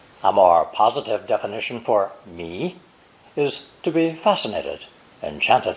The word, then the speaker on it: 迷: It's pronounced second tone, mi, and originally meant to